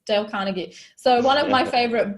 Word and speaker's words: Dale Carnegie: name wrong del conte I used to say his name Dale Carnegie and everyone's like no it's Dale Carnegie so one of my